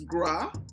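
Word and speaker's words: griot: So back in the day, there will always be, I think it's pronounced as gra, though it's spelled as groit. So okay. Ancient African communities, we used to have, so there will always be a gra in a family.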